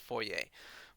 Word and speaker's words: Fourier: that's called Fourier analysis unless you know French that might not make any sense why that's pronounced Fourier Fourier analysis is it is